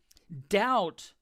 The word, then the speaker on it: doubt: The B is silent.